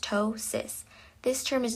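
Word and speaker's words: ptosis: The next term is tosis pronounced tois.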